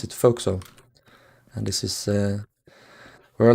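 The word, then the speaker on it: forecastle: it's spelled out for for castle but you pronounce it foxo and this is where a lot of the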